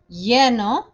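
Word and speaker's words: lleno: gonna start with caliente yeno remember the double l's make a y sound or j sound vasio sentado levantado muerto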